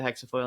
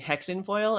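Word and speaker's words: hexafoil: right um and then I started pronouncing it incorrectly and I I kept saying hexen foil and then I was like oh wait but hexen means witch in German so that's that my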